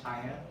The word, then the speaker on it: chi: Pronounce chi, not China.